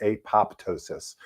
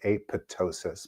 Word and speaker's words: apoptosis: research into Greek and the way that you actually pronounce this word is apoptosis, but I don't know why they needed to be mean about it. But anyhow, I I've tended to say aptosis, but I don't know.